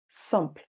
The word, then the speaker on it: simple: Instead of always saying that, why not say sump? Not simple. In English, we say simple. In French, same spelling, different pronunciation.